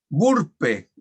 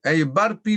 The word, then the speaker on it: burpee: Bueno, ese es un ejercicio que se llama Burpe. Burpee le dicen ellos, pero es burpe, se escribe B larga U-R-P-E.